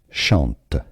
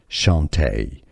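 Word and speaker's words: Chanté: the end is Shante now CH in French is pronounced like sh so sh Shante this is the most common pronunciation now some say it as Chanty especially if it doesn't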